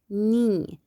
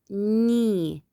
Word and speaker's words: knee: knee. Look at the two letters K and N. Here we have K silent. We just pronounce N, knee, knee.